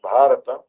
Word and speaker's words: Bharata: Our country's true name is Bharat, pronounced Bharata, named after him.